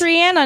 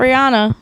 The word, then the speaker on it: Rihanna: It is Rihanna, not Rihanna. It is Rihanna. Yeah. Every time you hear her say her name, she says Rihanna.